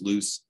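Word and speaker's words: loess: top of that um luss spelled o l e s s sometimes pronounced loose is soil particles of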